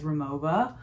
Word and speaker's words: Rimowa: of crisscross the pronunciation w's are pronounced like v's and v's are pronounced like w's so the proper pronunciation is remova and i have one